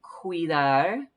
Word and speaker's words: cuidar: So remember that cuidar, this C is a hard C. Sometimes there are soft Cs. We'll see that in another word that sound like an S, but this one has a K or a Q, almost like a QU sound.